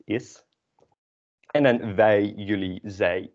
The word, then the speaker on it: is: Although in English you can pronounce it more as a z, is. And in Dutch it's an s, is.